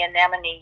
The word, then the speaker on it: anemone: of stuck on the anemone you know and that's a really big word I said oh but such a great word that enemy rhymes with anemy so I was I